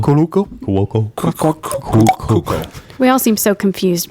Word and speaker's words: Cuoco: Cuoco.